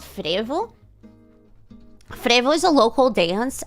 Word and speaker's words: frevo: So the O is pronounced like a U. So it's frevo.